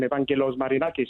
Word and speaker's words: Evangelos Marinakis: First of all, I just need to congratulate you on your pronunciation of his name, Evangelos Marinakis.